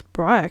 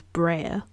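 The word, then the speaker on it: Breyer: I pronounced it wrong I can now pronounce Brier correctly because when I was younger I thought it was Brer so yeah that's funny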